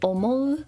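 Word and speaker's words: 思: which means every this is old which is pronounced foreign this is to think or feel which is omo or she this is a guess or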